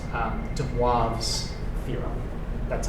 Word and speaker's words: De Moivre: I don't know if I pronounced the name of the formula, but that's pronounced um De Moivre's theorem.